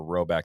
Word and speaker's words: Rhoback: So if you haven't already, time to load up on some Roback, both for yourself and for others.